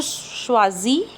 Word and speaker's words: choisis: First one is je choisis. Okay, because we know last letters are almost always silent, and when S and I comes together, these are the vowels, then the sound is there.